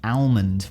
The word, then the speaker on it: almond: Almond. Wow. That is actually quite gracing, isn't it? If you're going to say a word, at least say it how it's spelled.